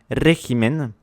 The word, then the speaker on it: régimen: Régimen est proparoxyton, c'est-à-dire que son accent tonique est sur l'antépénultième syllabe, autrement dit l'avant-avant-dernière syllabe, autrement dit c'est le E.